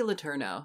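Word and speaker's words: Letourneau: to um the Mary Kay how do you pronounce the US name uh Mary Kay lerno L yeah Mary Kay LNO or L if you want to be super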